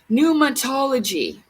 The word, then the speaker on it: pneumatology: For the most comprehensive and lucid exposition of a cult, pneumatology, but it's spelled with a P neu.